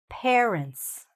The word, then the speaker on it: parents: The correct pronunciation of this word is parents. Pair. Just like a pair of pants, a pair of jeans, right? Just like this. A pair. Make sure that the first part of this word is pronounced like that.